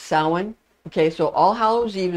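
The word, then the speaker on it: Samhain: ha a i n some people say Sam but it's actually pronounced sin okay so all hallow Eve is the same as sa and it traditionally begins at 6:00 p.m.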